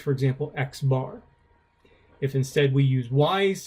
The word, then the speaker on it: X bar: And so this would be pronounced, for example, X bar.